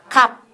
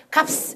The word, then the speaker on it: 값: 그래서 우리는 이거 가격할 때 갑 하면 비읍, 시옷 이렇게 써놓고는 발음 어떻게 해요? 갑. 이렇게 하지 우리가 이걸 값 이렇게 안 해요.